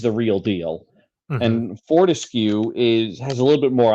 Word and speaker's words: Fortescue: I don't know how to pronounce it. I think it's Fortescue.